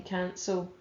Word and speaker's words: cancel: Okay, so the E makes a soft C in cancel.